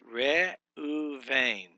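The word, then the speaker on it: רְאוּבֵן: And it's resh, so re. Then the next syllable starts with a consonant and the vowel u, aleph, shurik, u, and then the next syllable starts with a vet, a seri, and a nun sufit, or a nun, final nun. So it's re u vein, re u vein.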